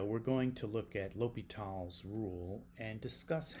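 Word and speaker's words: L'Hôpital: in this video we're going to look at lal's Rule and discuss how it helps us solve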